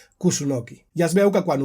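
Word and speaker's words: 楠: tenia un paper important, un arbre que en japonès es pronuncia Kusunoki.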